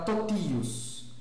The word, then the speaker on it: totius: E totius, né? Totius, no caso o i aí é tônico, então vai ser pronunciado, o i é longo, né? Então vai ser pronunciado ti, né?